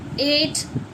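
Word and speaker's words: eight: आई क्या रहेगी बच्चों आई अगर जी एच टी आ रहा है तो जी एच साइलेंट होगा ट पढ़ा जाता है ये तो आपको बताया था मैंने जैसे इ आई जी एच टी एट अब इसमें जो है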